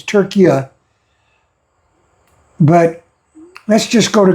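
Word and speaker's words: Türkiye: Although, I think they're pronouncing it Turkiye now instead of Turkey, it's Turkiye.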